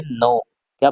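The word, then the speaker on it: knock: silent हो जाता है उसी प्रकार के के एन ओ सी के तो के आ रहा है स्टार्टिंग में के के बाद एन आ रहा तो यहां पर भी क्या हो जाएगा साइलेंट हो जाएगा तो के साइलेंट होने पर के एन ओ सी के को पढ़ेंगे नोक क्या पढ़ेंगे नोक पढ़ेंगे उसी प्रकार नेक्स्ट वर्ड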